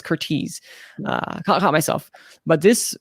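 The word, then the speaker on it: Curtiz: so it's hard to like no but it's curtis uh caught myself but this romantic drama is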